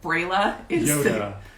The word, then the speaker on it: Brella: then there's another one brella is a lot a lot of people say perella and i no offense but that sounds kind of ugly to me so brayla the earth goddess yoda yeah e-u-o-t-a thank